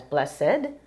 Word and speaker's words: Bles-sed: Because you want to make sure you pronounce it as blessed.